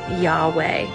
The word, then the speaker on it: Yahweh: an e in there to get Yahweh probably because we have a preference for vowels but Scholars and rabbis have noted that the letters YH wh represent breathing sounds or aspir ated consonants when pronounced without intervening vows it actually sounds like breathing YH for inhale and